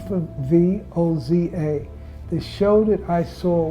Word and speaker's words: Voza: My name is Voza, V for V-O-Z-A. The show that I saw was Woza, W-O-Z-A. And South Africans, when they pronounce V, it's like W.